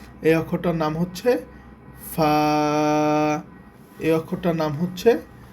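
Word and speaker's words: فاء: এই অক্ষরটার নাম হবে ফা এই অক্ষরটার নাম হচ্ছে ফা এই অক্ষরটার নাম হচ্ছে ফা আচ্ছা ফা এর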